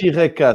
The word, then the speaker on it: Eureka: Ça se Ah, prononce. Eureka.